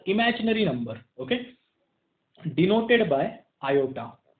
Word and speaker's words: iota: So that's why this number is called as imaginary number, okay, denoted by iota या simple i। इसको pronounce कैसे करते हैं, iota।